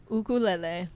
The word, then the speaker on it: ukulele: it one more time ukulele is that a hawaiian pronunciation yes it is okay we'll get into it you mean the right pronunciation yeah literally the correct way to say it yeah because i caught